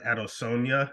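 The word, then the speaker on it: Adesanya: as Ariel would say I believe he pronounces it out of Sonia is how Israel says it at the end if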